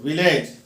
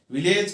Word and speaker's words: village: Here also one L is silent, के 2 मरतबा L हम लिख रहे हैं. विलेज के 2 सिलेबल है, 2 पार्ट्स है. विलेज को पढ़ते हुए विलेज, तो L जो है यहाँ पर साइलेंट है.